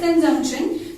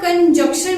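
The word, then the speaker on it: conjunction: हमारा नेक्स्ट है POS, कंजंक्शन, जिसको लोग कंजक्शन भी बोलते हैं, बट इसकी प्रोनाउंसिएशन होती है कंजंक्शन, ठीक है।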